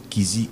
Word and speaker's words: Kyzi: Allez sur ma chaîne YouTube, Kizi Officiel. ça s'écrit, J-O-E.